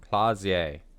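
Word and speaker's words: Klaasje: Clausier. Clausier. There we go. I needed that because I was not pronouncing it correctly.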